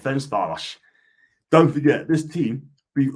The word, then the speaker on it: Ferencváros: Ferencváros, pronounce it is Ferencváros. That's it, Ferencváros.